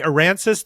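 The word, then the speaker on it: Aransas: You are known and pronounce it for me. Aransis, Texas. Port Aranis.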